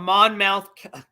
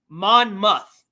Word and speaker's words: Monmouth: PTI this was from Monmouth okay I always say it wrong sorry it's Monmouth M it's it's spelled